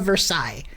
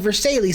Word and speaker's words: Versailles: Because I remember my history teacher really stressing the Treaty of Versailles. And I mispronounced it. I said Versailles, and they were like, nope, Versailles.